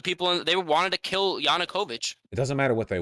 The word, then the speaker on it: Yanukovych: not violent vosh the the inokovich yeah no yanukovych say it right yanukovych he fled on his